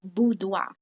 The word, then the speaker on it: boudoir: And the correct word, what we're going to learn today, is it's pronounced boudoir.